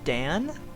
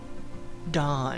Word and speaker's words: Don: We definitely want Dan? Don. I think it's supposed to be pronounced Don.